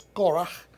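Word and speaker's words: קורח: el nombre core como se traduce en español, pero la pronunciación en hebreo es coraje.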